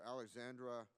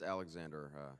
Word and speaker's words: Alexander: Alexandra, Deputy Director for the National Legislative Service of the Veterans of Foreign Wars. Did I pronounce that right? It's Alexander, sir.